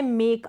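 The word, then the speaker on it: make: एंड में ई आएगा ना वो साइलेंट रहेगा, उसका हम प्रोनाउंसिएशन नहीं करेंगे, मतलब उसका उच्चारण नहीं होगा।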